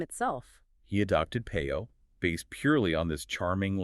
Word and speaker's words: Peyo: It was the phonetic way one of his English cousins would try to pronounce Pierre. Pierrot, which is a French diminutive of his actual name, Pierre.